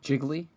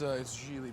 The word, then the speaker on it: Gigli: Jiggly? His name is Jiggly? Jiggly tits? It's Gigli, by the way. Ah, Gigli. What? My name. Meanwhile, you got something for me? Jiggly? Rhymes with really?